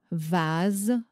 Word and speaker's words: vase: Et nous avons le S qui se prononce z comme la lettre Z quand le S est placé entre deux voyelles comme dans les mots vase chaise.